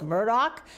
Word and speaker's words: Murdaugh: we are hot in the case of Alec Murdoch and by the way that's how he pronounced his name when he was on the